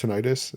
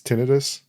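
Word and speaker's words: tinnitus: Um, so it's not pronounced tonitis. It's tinidis. Tinidis. Yeah. I always say tenitis because it sounds cooler.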